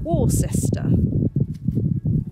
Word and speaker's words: Worcester: Now Worcester is spelled Worcester, but I believe it is actually pronounced Worcester.